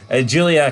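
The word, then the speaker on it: Giulia: involve the English alphabet Julia can't even do broken English Julia not gulia gulia Julia can't pronounce her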